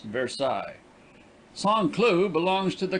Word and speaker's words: Versailles: miles by rail on the road to versailles pronounced versailles song clue belongs to the canton of sevres